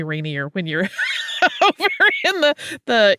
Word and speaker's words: Rainier: fixes my pronunciation there you can tell that I grew up for a time in the Pacific Northwest because I say Rainier uh but it's apparently Rainier when you're over in